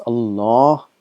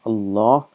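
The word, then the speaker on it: الله: It's Allah. It's pronounced as Allah, but it is written as Allah.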